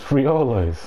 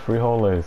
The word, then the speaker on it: frijoles: say beans in spanish it's it's frioles i promise you it's free all those it's frijoles go look it up it's mexican in